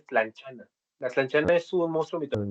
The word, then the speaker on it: tlanchana: que el nombre, imagino, ¿la T se pronuncia o es lan- lanchanita? Ajá, no, sí se pronuncia tlanchana.